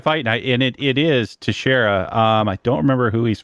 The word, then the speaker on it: Teixeira: Is that the UFC Smith versus Texera? Well, I'm sure I can't say his name. Teixeira. Right? Teixeira. I was closer than I thought I was going to be.